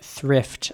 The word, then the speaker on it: thrift: And the pronunciation here is a little tricky because of the TH, in my opinion.